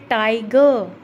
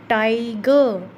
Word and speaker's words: टाइगर: फिर है टाइगर, टाइगर, टाई, टाई को लंबा बोल रहे हैं, तो क्या है, इसके फर्स्ट सिलेबल पर स्ट्रेस आ रहा है।